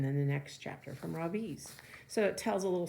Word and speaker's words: Ravi: It's pronounced Ravi, but it's spelled like this. So can you think what a lot of Americans are going to say? Not Ravi, but Ravi. So my first name is pronounced Ravi with a soft Ra and a strong V. In Sanskrit, it means the sun. In America, people call me Ravi with a stress on the first syllable.